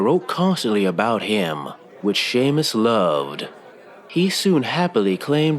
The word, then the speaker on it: Seamus: In my defense, when I said his name wrong before, I was really drunk. Seamus has been around since the rift opened for